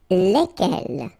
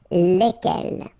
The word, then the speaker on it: lesquels: Alright, so final S is not pronounced, so here when you get this L-E-S, okay, it's just like the article, if you remember, les, okay, so it goes like lesquels, alright, and then the